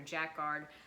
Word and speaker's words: jacquard: jacquard and i guess that's you pronounce it jackard or jack guard thai waist shell now